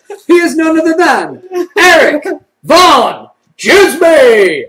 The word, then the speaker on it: Erik Van Djsimie: He is none other than Erik Van Djsimie! And the D is silent.